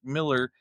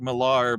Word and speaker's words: Millar: I always thought Mark Miller, his name was Mark Millar, but evidently it's Miller. So even though it's spelled with a AR, so I've always been wrong.